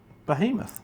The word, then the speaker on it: Behemoth: How do you pronounce the horse's name? Behemoth. I like to say Behemoth. Oh, you like to just put a bit of emphasis on it from the old Reservoir Dogs movie.